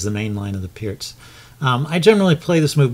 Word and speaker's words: Pirc: And the Pirc defense, sometimes called the Pirc defense because it's spelled P-I-R-C, but I believe it's pronounced Pirc, is this move knight f6 in combination with d6.